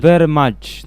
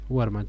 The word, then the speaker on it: Wehrmacht: Wehrmacht. Wehrmacht. La W en alemán suele ser una B larga. Wehrmacht, sí.